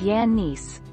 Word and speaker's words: Giannis: lead his first name giannis is a typical greek name that is pronounced as yannis with emphasis on the